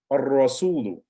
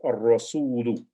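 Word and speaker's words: الرسول: Ar-rasulu. So if you notice, you could hear the alif is what you call it, it is combining or merging with the sound of the ra. So it's ar-rasulu.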